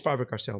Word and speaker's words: Faber-Castell: It's Faber-Castell, by the way. It's in German, so it's Faber. That's the way they pronounce Faber-Castell.